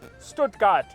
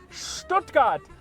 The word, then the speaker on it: Stuttgart: It is not called Stuttgart. It is called Stuttgart. Like Stuttgart. Do not say Stuttgart. Say Stuttgart.